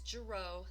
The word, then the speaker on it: Girot: 9 6 8 - and it's Jareau the T is silent send me that text